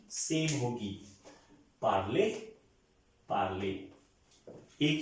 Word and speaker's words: parlons: je parle, tu parles, il parle, elle parle, nous parlons, ONS, O की तरह pronounce होगा। ये last वाला कॉन्सोनेंट कभी भी प्रोनाउंस नहीं होता, सो ओ पार्लो, पार्लोंस नहीं होगा, पार्लो, nous parlons, vous parlez, il parle, elle parle।